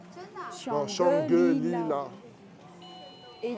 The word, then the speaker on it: Shangri-La: Attendez, est-ce que vous voyez comment ça s'écrit en caractère chinois? Ça s'appelle Shang-Li. Non, Shangri-La.